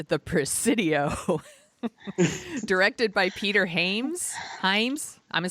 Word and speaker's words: Hyams: But we're talking about The Presidio, directed by Peter Hyams. Hyams? I'm going to say Hyams. Hyams. Oh, God. I mispronounced it on purpose.